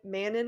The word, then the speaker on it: Manon: So I said ma manon again and she's like actually it's man. Then we had to go into a whole conversation of how I think she grew up in France and it's a French pronunciation. So every time I see manan I'm just like no no it's mano or you're going to get yelled about it.